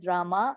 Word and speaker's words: Rama: The words Hare pronounced Hare, Krishna pronounced Krishna, and Rama rhymes with Rama are Sanskrit words.